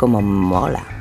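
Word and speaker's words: MÅLA: This is pronounced something like *MOLA* ("cool" in spanish).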